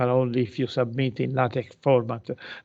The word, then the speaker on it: LaTeX: The next one, this may be of less interest in the humanities because LaTeX, this is the key, the Greek letters key, so it's pronounced LaTeX.